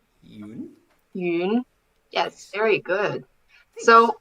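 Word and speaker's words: 云: So it's pronounced as yun. Yun?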